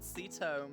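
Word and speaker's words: Ceto: of my own protagonist oh my god seto my favorite lemon comic character it's spelt with a c which is why i keep on mispronouncing it um and so yeah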